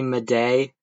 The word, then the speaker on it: Madej: video to find out I've been pronouncing her name wrong this whole damn time. So, you're just going to have to deal with it. It's pronounced Carrie Mday.